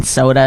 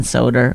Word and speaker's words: Soder: You always say Dan Soda instead of Dan Soder.